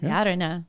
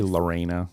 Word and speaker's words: Llarena: I mean, we live in Austin in Texas, and so it's usually Lorena. We like, this town loves to pronounce Spanish words in English.